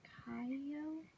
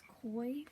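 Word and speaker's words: Kou: It's spelled K-O-U, I think it's just pronounced Kaio. I don't know. In my brain, every time I read it as Koi, but I know that's not his name.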